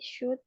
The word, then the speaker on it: should: Pertama ini bacanya should. Ini L-nya nggak dibaca.